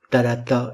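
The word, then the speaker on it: θάλαττα: Thalata est un proparoxyton puisqu'il est accentué à l'aigu sur l'antépénultième syllabe.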